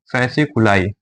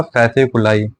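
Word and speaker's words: fasciculi: structure बना रहे और इस स्ट्रक्चर को बोलेंगे फैस कुलाई इसकी स्पेलिंग है एफ ए एस आई सी य डबल एल आई फसक यह सारी मसल सा मिलक स्ट्रक्चर बनाया इसको बोला जाएगा फैस कुलाई ये हमारा दूसरा हो गया मसल में काउंटिंग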